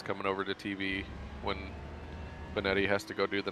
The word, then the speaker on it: Benetti: How do you say? Was it Jason, right? Announcer from the Sox. Jason Benetti. Benetti. Okay, I was double checking. I thought that's how you said it.